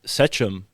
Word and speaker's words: sachem: And also the word, which I've always read as sachem, but you could pronounce it sechem, right?